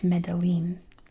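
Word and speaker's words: Medellín: Let me know if things are pronounced differently here because I know like Medeline, that's not how you say that in Spanish, but that's how you pronounce it.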